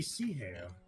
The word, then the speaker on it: sea hare: And now you Like can the sea hare.